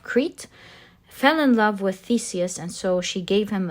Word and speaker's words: Theseus: And one of these years, Theseus is how we pronounce his name, Theseus, was one of these young people who were given as a tribute.